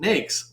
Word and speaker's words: NAICS: their guidance it says it is pronounced nakes like snakes not any other way the reason this is